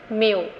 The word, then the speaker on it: मेयो: मेयो ने दिया था एल्टन मेयो का नाम कुछ लोग और प्रोनाउंस करते हैं जैसे मायो भी आप बोल सकते हैं तो उसमें कोई कंफ्यूजन नहीं है इनका आज हम देखेंगे